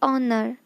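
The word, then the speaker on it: honour: फिर क्या है, इस सम्मान के लिए धन्यवाद, तो थैंक्स फॉर द ऑनर। आप इसको हॉनर नहीं पढ़ोगे, आप इसको क्या पढ़ोगे, ऑनर, जो एच है वो साइलेंट है।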